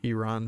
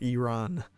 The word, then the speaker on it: Iran: Iran's just still, or everyone after I made my Iran video, they were like, "You must pronounce it Iran. It's not Iran."